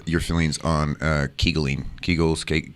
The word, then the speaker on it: Kegel: feelings on uh kegeling kegels cake kegels how do you say it kegel rhymes with bagel it depends where you are and put some swiss